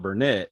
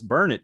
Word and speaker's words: Burnett: It's called Burnett, Uh-huh. and people will come in and call it Burnett. And Yeah. the saying in that town is, "It's burn it, darn it, now learn it."